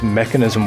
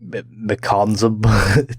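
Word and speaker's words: Mekansm: banging new grave talon why does it pronounce mechanism when there's no eye anyway shouldn't it be like mcconza anyway mechanism is a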